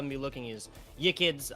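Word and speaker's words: Yiqids: What I'm going to be looking is Yikids. I do believe I pronounced that correctly. Y-I-Q-I-D-S. Yes, Yikids, the Norwegian...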